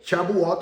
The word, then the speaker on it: Shavuot: Se escribe S-H-A-B chica U-O-T. Shavuot se pronuncia.